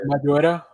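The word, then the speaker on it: Maridueña: And we already know, like, how do you pronounce his name? Jaime Zola? Madureira.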